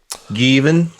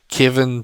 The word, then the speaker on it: Gavin: So Given. When I first got to America, it was pronounced Kevin, Jevin, Devin, Javin, Jeff. Jeff.